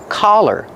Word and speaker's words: collar: The open sound ah like hot and stop. C- collar. Don't be confused with color. Color has a short uh sound like cup and up. C-C- color. Example. What color is my sweater? My sweater is black. That's color. But this is a collar. It's a more open sound.